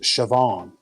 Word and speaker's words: Siobhan: um so so k hendo says the name's pronounced siobhan um it's irish yeah uh yeah so the